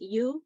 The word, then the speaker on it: Yu: giving life in hmong so in hmong it's pronounced you so it has a tonation that goes up and that means to